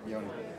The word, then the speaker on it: Yoni: Hi, Yoni. Nice to meet you. So you pronounce it Yoni. Yoni, yeah. Yoni. Okay. It's spelled Y-A-N-I, right? Y-O. It's an O. it's Y-O. Yoni. Yeah, Yanni is Greek.